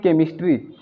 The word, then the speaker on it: chemistry: यानी कि CHE के बाद क्या आ रहा है M आ जा रहा है, इसलिए हम CH को यहाँ पर क्या पढ़ रहे हैं क पढ़ रहे हैं।